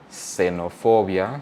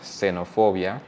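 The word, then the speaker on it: xenofobia: So at the start of a word, it's pronounced like a S. So for example, xenophobia, xenophobia.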